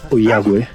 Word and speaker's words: Ollagüe: E dopo aver sfiorato il confine con il Cile, siamo arrivati al mirador dell'unico vulcano attivo di questa zona, il vulcano Oyague, si dovrebbe pronunciare così.